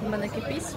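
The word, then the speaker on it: Manneken Pis: The main known attractions in Brussels is mannequin piece, right? I'm saying it right, right? Yeah. Yeah.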